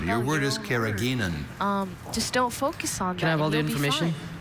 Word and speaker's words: carrageenan: Carrageenan has been added to processed foods since the 1950s and has no nutritional value, although it may help fight infections.